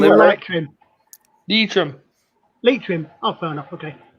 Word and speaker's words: Leitrim: Leitrim? Yes. Was it And then Leitrim or Limerick? light trim? Leitrim. Leitrim. Oh, fair enough. Okay. Leitrim.